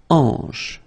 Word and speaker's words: hanche: La hanche, remember, H here is not pronounced, so you get the sound en, hanche at the beginning.